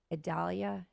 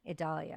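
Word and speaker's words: Idalia: would say that name I try to say it like videlia but it's not it's Adalia Adalia I think okay yeah anyways we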